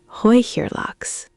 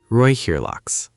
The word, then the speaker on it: Räucherlachs: The E in Räucher sounds like the Oi in boy. Räucherlachs. Räucherlachs.